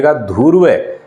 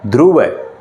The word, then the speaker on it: ध्रुव: विद्यार्थियों ध्रुव ये ूर्वलम उच्चारण सुनिए धुव ना सही क्या है ध्रुव ध्रुव है पेट की आग पेट